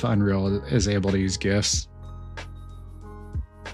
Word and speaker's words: GIF: or GIF, depending on if that's how you pronounce it. I think the original creator said it's pronounced GIF, but I don't I don't accept that. It's GIF to me. You don't give someone when on Christmas you don't give someone gifts. You give them gifts.